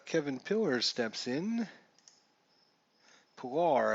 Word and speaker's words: Kevin Pillar: Pilar, I believe, is how it should be pronounced.